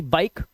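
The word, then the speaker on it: bike: लिखा है बी आई के ई बाइक। अब यहां पर ई जो है लास्ट में है तो इसे पढ़ते हैं बाइक।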